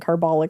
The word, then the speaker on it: carbolic: I can cure cancer with watermelon seeds and carbolic acid. that I just put into your chest Like, are you okay? with a syringe. yeah. Like, what the fuck? I think I said carbolic.